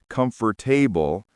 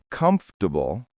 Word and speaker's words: comfortable: I used to mispronounce comfort table as comfortable. When I heard the correct way, comfortable, I felt shocked.